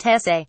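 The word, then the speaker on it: Jesé: Jesse, pronounced Jesse, scored a fine winning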